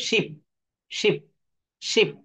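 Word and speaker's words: ship: এইচ আই পি অর্থাৎ এইটাকে দ্রুত বলতে হবে শিপ শিপ শিপ দেখেন এই এস এইচ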